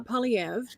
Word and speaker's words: Poilievre: And thank you for putting the pronunciation here, Claude. Yes. You're a real one. So Thank Pierre Poilievre, the leader of the Conservative Party of Canada, didn't get elected, as the kids say.